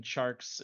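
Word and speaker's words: Tjarks: should check them out on jonathan sharks and sharks is spelled weird it's t-j-a-r-k-s um it's not really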